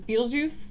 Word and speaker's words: Betelgeuse: know it's so equal Betelgeuse which is Arabic for the armpit of Orion apparently the hand of Orion for different pronunciations what's your favorite oh yeah there's Beetlejuice Beetlejuice we're just the saying a